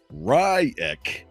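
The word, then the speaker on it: Reich: got a little bit of information from Robert riek is what he pronounces it r-i Das CK he's funny uh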